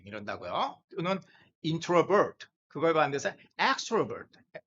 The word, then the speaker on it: extrovert: 그래서요 i와 다르게 요게 e의 발음이 이게 좀 그런 경향성이 있기 때문에 어 아까 introvert introvert 이러는데 여기서는 extrovert 발음이 여기 제1음절에 있죠.